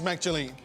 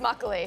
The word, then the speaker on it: makgeolli: Tell me, what is Makegeolli? It's actually pronounced makgeolli.